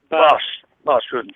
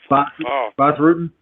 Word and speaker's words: Bas Rutten: Also have a follow-up about Bas Rutten. Is that how you say it? Bas Rutten. Bas Rutten.